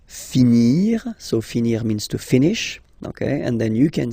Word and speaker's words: finis: Remember, final S is not pronounced. Je finis. Okay? Tu finis. So ES as well, like we had for je. So same way to pronounce it as well. You don't pronounce the final S.